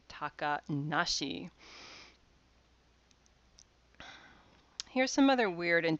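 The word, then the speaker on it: 小鳥遊: in the same way these characters would normally be read as kotoriasobi little birds play or if you're going to go with the onyomi but when these are put together in the context of a name we read them takanashi because little birds kotori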